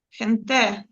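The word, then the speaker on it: gente: Хенте. Давайте подумаємо, куди наголос поставити. Е-е, хенте. Остання буква в нас яка? Остання е голосна. голосна тоді наперед тоді на на передостанній.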